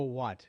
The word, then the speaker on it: wat: either one name the one is called doro watt d-o-r-o-w-a-t it's spelled as watt w-o-t it's one of the